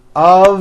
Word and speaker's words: of: spelled with an F we pronounce the word of with a voiced v I know this sounds